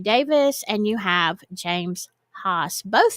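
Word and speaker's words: Haas: hos h a s James hos as how I would pronounce it um he lives in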